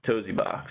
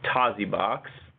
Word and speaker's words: Tosibox: fullscreen Tasi box sorry i i've been pronouncing it all wrong and i haven't been able to change my brain so it's Tozzi box um and we'll skip